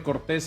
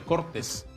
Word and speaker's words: Cortés: los responsables públicos al departamento de Cortés en vez de llamarle así se le llame departamento de cortes cambiándole la sílaba tónica porque no es justo